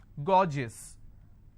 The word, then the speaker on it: gorgeous: For example, I have a word gorgeous. So gorgeous, 2 syllable, I will stress on gore.